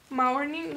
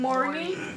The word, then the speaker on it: mourning: But it will be that mourning, how do you pronounce it? Mourning. Mourning? Like morning? Good morning? Like that, yeah.